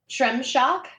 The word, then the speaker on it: Shremshock: Shremshock. Shremshock. You're gonna Yeah. ruin that. I can't He's even- gonna ruin it. That's I don't pronounce it correctly. I just slur it all together into like 1.5 syllables.